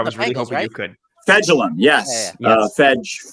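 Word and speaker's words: Fejedelem: Fedelum, or whatever his name is. I can't pronounce his. I can't pronounce his last name either. I was really hoping you could. Fedulum, yes. Yes. It's Fegellum.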